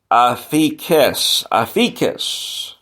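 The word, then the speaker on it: ἀφίημι: word is the word it's actually it's pronounced the word afiques to abandon to release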